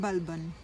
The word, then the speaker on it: Balban: The Sultan Ghiyas Din Balban. His name is spelt with two B's separated by an L, each followed by the vowel A and an N at the end.